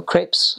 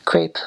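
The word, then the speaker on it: crêpe: And we had, you know, crepes, of course. People say crepe, but it's a crepe. So that's just a little pronunciation thing going on there.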